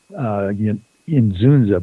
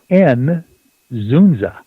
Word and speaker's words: Ynzunza: And you would think it would be Inzunza, something like that, but it's not. It's the Y is pronounced kind of like an E, and so it's N-Zunza.